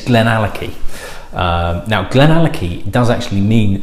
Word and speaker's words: Glenallachie: And it's Glenallachie.